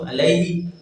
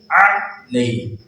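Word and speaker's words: علیہ: ख्याल रखना है, दोनों को अलैहि या इलैहि या अलैहि इस तरह या इलैहि اس طرح پڑھ دیا جاتا ہے. تو یہ تمام لفظ جس طرح میں نے پڑھے ابھی یہ غلط ہے. درست تلفظ اس کا یہ ہے الیہ. حمزہ اور عین کا فرق، زیر اور زبر کا فرق.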